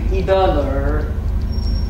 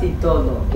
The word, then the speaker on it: Idoler: The name is the name is Idoler, not Idolo.